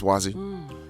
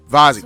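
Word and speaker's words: Wazy: What are your orders, Wazi? Vazi, I got to remember. It's pronounced a V.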